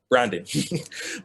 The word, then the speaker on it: BHRanding: we call it dot dot wait for it branding but we spell it b h r a n d ing